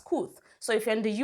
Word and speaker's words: Kooth: If you're here in the UK, we have KOOT, spelled as KOOTH, pronounced as KOOT.